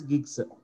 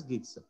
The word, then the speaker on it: GB: 1 GB and all this, that is 1 gig, 2 gig, that is, see, GB is pronounced as gigs, right? So you have to pronounce as gigs, right?